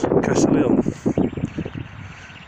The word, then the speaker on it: Castle Hill: walk up this part this is what's known as castle hill or if you're from the blue countries pronounce castleville now over the last